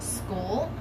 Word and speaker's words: Skool: but I also am building a platform on School, the School app. It's spelled SKOOL, and that is going to be